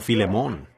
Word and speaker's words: Filemón: Así que, Filemón, dijo alguien allá atrás, lo cual creo que es la pronunciación correcta.